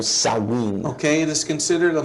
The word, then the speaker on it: Samhain: It is said Samhain. Pero es pronunciado Samhain.